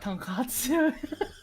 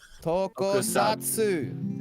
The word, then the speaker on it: Tokusatsu: It's not Tonkatsu. Tokusatsu.